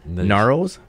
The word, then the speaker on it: Ngaro: Ngaro's? Sojourney. Ngaro. Oh, so the G silent. This G is silent.